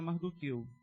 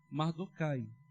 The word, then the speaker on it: Mordecai: ressalva aqui, irmãos, que às vezes nós vamos falar Mardoqueu e às vezes é Mordecai. Na verdade, é a mesma pessoa. E existe uma certa divergência nessa pronúncia. Nós adotamos para esse estudo, conforme estava na revista, Mardokai. E às vezes eu já tinha muito costume de falar Mardoqueu, continuo às vezes falando Mardoqueu, mas vai ser sempre a mesma pessoa.